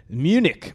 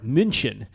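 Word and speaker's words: München: Bucks played last November in Munich or minin as uh as the locals say over there I took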